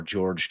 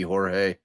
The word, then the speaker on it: Jorge: is now deceased uh Jorge Torres or George Torres depending on we'll see how they pronounce it it should be Jorge they're being truthful uh to his Heritage um we're having a